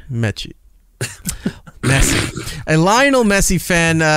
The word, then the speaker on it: Messi: Influencer instantly is regretting his Lionel Messi face tattoo. It's that's how you pronounce it, right? M-E-S-S-I, Messi, the big... Yeah. No, it's Mechie. Mechie.